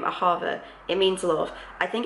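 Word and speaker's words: אהבה: But the pronunciation is something like Ahava or Ahava, with the stress on the second syllable.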